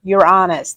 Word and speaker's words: Uranus: Yes, Uranus. That is how it's said. If you say it any other way, you're being silly.